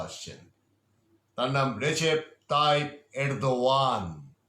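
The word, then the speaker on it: Erdoğan: তার নাম Recep Tayyip এরদোয়ান। উচ্চারণটা মনে রাখবেন, অনেকে এরদোগান বলেন, ভুল বলেন।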